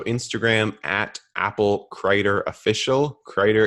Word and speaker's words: Crider: Crider is spelled like cider, but with an R.